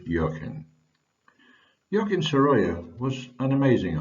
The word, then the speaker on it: Joaquin Sorolla: The second is to tell you that I am reliably informed that Joaquin Sorolla's name should be pronounced as Joaquin Sorolla, but I find it much easier to use Joaquin.